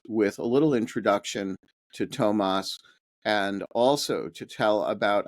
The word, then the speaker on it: Toomas: name was actually pronounced Tomas, as though it were as though there were one O. And it took me a while to internalize that because, you know, I've known him as Toomas Hendrik Ilves, and every